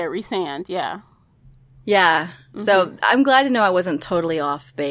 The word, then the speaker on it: Rhysand: Rhysand.